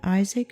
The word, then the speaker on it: Isaac: yahweh told abraham in isaac shall thy seed be called we say isaac but the hebrew accents the last syllable perhaps this is why